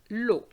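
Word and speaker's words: l'eau: h water that is lo lo each time you have e a u in french is the sound o lo can you guess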